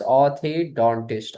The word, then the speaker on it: orthodontist: We say it ortho, but in actual pronunciation is orthodontist, orthodontist, orthodontist.